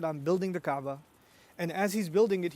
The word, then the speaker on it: Kaaba: told to build the Kaaba raise its foundations actually the incorrect way to say it would be in fact he was told to build the cabin know if your fire